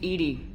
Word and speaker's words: EDI: have a specific inquiry why are you named Edie Ed is the phonetic pronunciation of Eed that is an acronym for